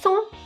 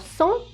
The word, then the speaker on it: cent: Even if we add S at the end of cent, we don't pronounce it.